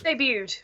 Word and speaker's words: debuted: the word Yeah, debuted debuted. debuted. Okay, the T is silent.